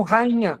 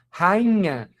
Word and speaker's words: rainha: É o caso de palavras como rainha. Veja, ó. Rainha. Eh, o I se separa do a anterior, tá sozinho na sílaba, é tônico, tá?